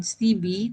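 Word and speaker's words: Stibbe: Ini yang harus dilihat dan menurut Aran Stibi tadi bacanya STIB ya ee ini bahasa seperti ini yang harus kita kaji ulang.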